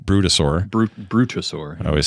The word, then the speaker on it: Brutosaur: Hey, a reminder, folks, if you haven't gotten that Traders Gilded Brontosaur, Brutosaur.